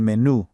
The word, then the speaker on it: menú: Spanish, el menú por favor. Make sure you place a really strong emphasis and accent right there on the U at the very end of menu. El menú por favor.